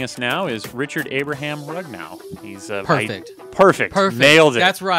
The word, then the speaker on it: Rugnao: And joining us now is Richard Abraham Rugnao.